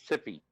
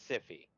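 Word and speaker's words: Syfy: 4 letters Sippy. Yes. It's pronounced no, we're not going to pronounce it that. It's Siffy.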